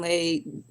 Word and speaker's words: ELAY: My name is LA. Pronounced like LA.